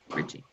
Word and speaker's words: Richings: So this is Richings. Did I say your last name right? Rich plus Ings, just think of the pronunciation. Richings.